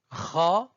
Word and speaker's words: خ: Elle a le même point d'articulation que le re du français. Donc, on va lui associer ces voyelles et on répète ensemble la prononciation. De droite à gauche, kha, khou, khi, kha, khou, khi, khan, khon, khin. Donc c'est la jota, presque la jota de l'espagnol.